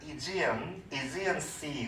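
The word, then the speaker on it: Aegean Sea: 이게 이제 우리가 보통 에게해라고 하는, 영어로는 발음이 상당히 다른데 이지언 씨 그렇게 말해요.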